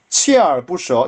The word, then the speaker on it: 锲而不舍: 하나 锲而不舍锲而不舍 이건 치에라고 읽습니다.